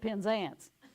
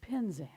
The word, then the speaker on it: Penzance: So I was saying it in the southern way. It's the Pirates of Penzance. But to say it correctly, it is the Pirates of Penzance.